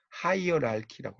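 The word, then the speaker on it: hierarchy: 하이어랄키라고 해요. 요게 이제 K 발음 나요.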